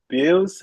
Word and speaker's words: Bealz: He is currently ca celebrating the publication of his debut ath futuristic themed novel uh bills. How do you actually pronounce the the name and the character?